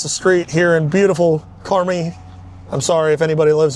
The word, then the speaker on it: Carmi: It's Car Me, don't you, Angel? I mean, that's that sounds sounds right at least.